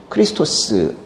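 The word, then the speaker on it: Χριστός: 성경을 헬라어로 써 졌는데요 헬라어 발음으로는 구원자를 뭐라고 하냐 는 요 크리스토 스 라고 하는데요 크리스 도제 그런데 우리말로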